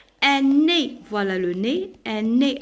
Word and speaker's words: nez: Un nez, voilà le nez, un nez. Alors EZ je la prononce quoi? Je la prononce E.